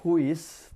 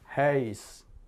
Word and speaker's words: huis: Ya, rumah itu tidak huis tapi heis. Heis. Mulutnya bulat tapi yang keluar seperti A. Heis.